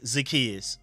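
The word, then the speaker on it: Zaccheaus: on that I I forgot his name is pronounced alade zakus I keep saying Olam is alade make sure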